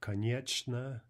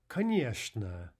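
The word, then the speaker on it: конечно: and the word for of course is not con yet sneh but rather kanye sneh Kanye Kanye sneh finally there are just a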